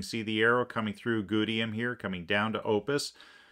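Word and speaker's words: Gutium: See Gudium right here, G-U-T-I-U-M, pronounced Gudium.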